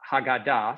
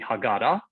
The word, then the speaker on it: Haggadah: And I thought, you know, the Passover Haggadah, sometimes called the Haggadah, that just depends where you put the emphasis on the syllable.